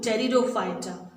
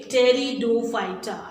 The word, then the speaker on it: pteridophyta: The third group, pteridophyta of cryptogams, non-flowering plants. Okay, pteridophyta. I'm saying, pronouncing with T, but the spelling starts with P. P is silent here. Okay, pteridophyta.